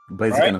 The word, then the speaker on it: Blaziken: Yeah, no, I always call it Blaziken, but then I was like, I'm now getting really paranoid about how I'm pronouncing things, and there's no E in there. Blaziken is right though.